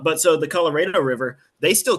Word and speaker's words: Colorado: There's a river that's spelled Colorado, but they It's like pronounce it Colorado.